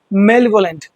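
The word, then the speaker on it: malevolent: मेलवोलेंट इट्स मेलवोलेंट मेलवोलेंट हम अकेले इसको पढ़ेंगे तो मेल पढ़ेंगे लेकिन ये क्योंकि साथ में जुड़ा है इट विल बिकम मेवोलेंट ठीक है तो इसका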